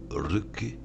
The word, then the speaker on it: Röki: Bon, c'est pas grave, ça se prononce comment ça? Ruki.